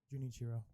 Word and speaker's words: Junichiro: horri how do you say his brother's name junichiro junichiro you did not spend entire vacation in